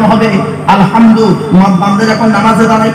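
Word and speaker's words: الحمد: আল্লাহ তোমার হাই হতি গলার ভেতর থেকে হেটা উচ্চারণ হবে আলহামদু বান্দা যখন নামাজে দাঁড়ায় কি বলে আলহামদুলিল্লাহি রাব্বিল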